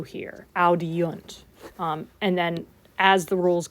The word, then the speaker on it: audiunt: It's easier to say audiunt than audint. Like it's just, that vowel just showed up just the way it's pronounced.